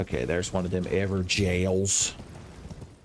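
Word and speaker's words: Evergaol: there's one of them ever jails since you're not allowed to pronounce words the way they're spelled it's an Ever jail and not an ever go and we're back up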